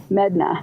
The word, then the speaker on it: Medina: me uh Jose Medina he went by Yosi and medna I believe is how he liked his last name pronounced but spelled Medina and so that's when I